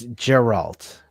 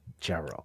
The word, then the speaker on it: Geralt: It's Geralt, not Geralt. With the hard G. Geralt. I thought it was Geralt. With Henry Gaff. Throw a coin to my Witcher. That's with Henry Cavill. It's always a hard G.